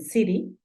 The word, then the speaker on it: city: ciudad la palabra ciudad se escribe City a veces la pronuncian Siri por todo lo que te cuento de la t esto lo vamos a